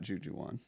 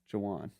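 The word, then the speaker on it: Ju'Juan: It's ju apostrophe Juan N. Okay. Jawan. Yeah. Jawan. Jujuan. Not Jujuan. How do you say it? Jawan. That's how you say Jawan.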